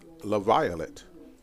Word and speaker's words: LaViolette: I did learn over the break that I had been pronouncing the gentleman's name wrong. Number 29 is LaViolette, Lasir LaViolette. So we'll make sure we